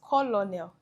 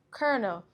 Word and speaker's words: colonel: This isn't pronounced colonial. No, the correct pronunciation is kernel.